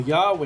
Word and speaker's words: Yahweh: Now, in regard to both of those various Hebrew transliterations, Yahweh and Jehovah, the Yod, the Hebrew character Yod, of course, for the Yahweh is a Y pronunciation. It's Yah, okay?